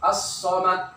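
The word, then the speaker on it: الصمد: Cara membacanya, lamnya tidak dibaca, dilebur huruf lamnya nih. Langsung masukkan ke so. As-somad.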